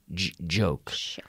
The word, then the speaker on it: joke: Joke with a J, which is almost like a CH, and you activate the vocal cord. Joke.